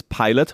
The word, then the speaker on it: Pailot: It's pilot, right? So, it's pilot, but it's it's pilot with AI, right? Um so, it's the gimmick with the AI in there, but we spell it pilot.